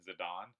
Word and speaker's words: Zidane: zadane it's funny I I say Zinedine zadon because that's how it's pronounced but because as a kid it was zidane to me for ff9 I say that zidane those to me are two different names so he wins SC